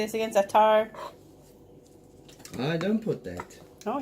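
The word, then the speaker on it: za'atar: Zatar.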